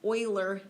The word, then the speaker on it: Euler: section 3.5 uh it's titled analyzing arguments with euler diagrams that is how you pronounce that name it's a mathematician named euler